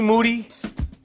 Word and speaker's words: Moody: in here with Moody last name rhymes with Duty yep we are in